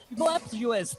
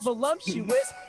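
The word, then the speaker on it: voluptuous: Girl, they be voluuptuous, not voluumptuous.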